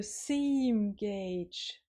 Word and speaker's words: seam gauge: And go, it rhymes with cage, so seam gauge.